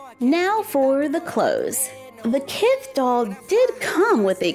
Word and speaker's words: Kith: Well, I found a few, but I was late to the party for that new, rhymes with Sith, Kith Barbie.